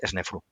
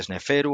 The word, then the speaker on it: Sneferu: kofu de keops que es snefru snefru que a veces se dice sneferu otros dicen senfu bueno tiene para que veamos como esos fonemas según la lengua cambian no Bueno pues es nefru